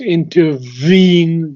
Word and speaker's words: intervene: but you do not pronounce intervene the V.